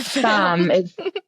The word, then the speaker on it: femme: Tour de Femme. It is Femme. French is weird. You'll pronounce letters the wrong way.